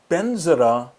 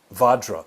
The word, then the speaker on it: vajra: that we've talked about benzera is actually vadra the word we were just talking about vadra which